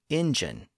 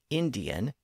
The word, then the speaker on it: Indian: that's what happened with the word Indian it was originally Indian but then the same sound change that we've seen converted the consonant in the middle to engine but eventually the original pronunciation Indian came back into fashion and is now the standard pronunciation but we can still hear the pronunciation as engine in colloquial speech it's a pronunciation that